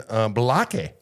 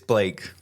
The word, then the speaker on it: Blake: He came all the way out here to be on our show, and Balake. How are you? It's Blake. Balake, how are you doing? It's Blake.